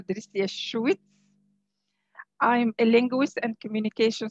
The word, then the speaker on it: Drissia Chouit: you madam uh first i would like to correct the pronunciation of my name i'm dr trisia schwitz i'm a linguist and